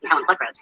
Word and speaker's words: Helen Pluckrose: Since approximately June of 2017, I, along with 2 other concerned academics, Peter Bogosian and Helen Pluckrose, that's how you pronounce it, academic papers and submitting them to highly respected journals in fields that study gender, race, sexuality, and similar topics.